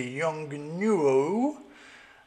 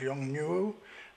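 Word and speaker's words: Yongnuo: well here it is the Young newo I think that's how it's pronounced Yong new um it's the 565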